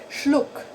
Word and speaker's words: Schluck: Schluck. Schluck. Look. See, right? The same as luck. Look. And then you put a sh in the beginning.